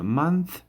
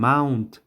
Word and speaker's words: month: month ماه. زیادتر دوستان میاره mount تلفظ میکنن، اشتباه است.